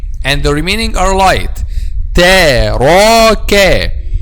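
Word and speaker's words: تَرَكَ: Taraka. The back of the tongue will be raised just when we pronounce a ra, but the kaf is not.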